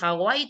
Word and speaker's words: Hawaii: Ah, porque la doble u suena como u. Ja. U i. Es u a i. Ahí la doble u suena como u y si suena a u lo puedes tomar como vocal u.